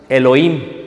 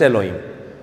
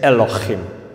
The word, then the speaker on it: Elohim: Elohim, no. No es Elohim, es Elohim. ¿Ok? Elohim.